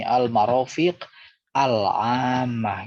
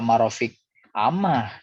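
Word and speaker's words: المرافق العامة: Jadi bacanya seperti ini, al-marofiq al-ammah gitu. Jadi jangan dibaca marofik ammah, tidak boleh. Karena ini ada alnya. Maka kalau diwakafkan dibacanya marofiq al-ammah. Harus begitu, alif lamnya harus jelas ya.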